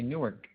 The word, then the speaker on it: Newark: in New York oh Newark yeah new ark yes yes Newark so in Rapid American English speech we say nework okay very good so